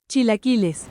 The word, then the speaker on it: chilaquiles: Chilaquiles? I don't know. Chilaquiles. It's a new one for me. Mate, you're not far off. I don't even know how you pronounce it. Chilaquiles rojos. Chilaquiles.